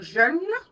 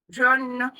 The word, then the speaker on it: jeûne: que tu fais le jeûne, le sens change totalement. Donc, le jeûne, ça se prononce comme veut.